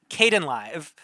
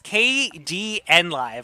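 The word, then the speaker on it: Kdenlive: e um no no it's I I was pronouncing it Kaden live but it's based on the uh Linux uh software package KD e so it's kdn live according to everybody who does the tutorials for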